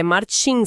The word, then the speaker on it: Martim: E aqui tem um detalhe na pronúncia, é Martim, sabe? Com a força lá no tin final.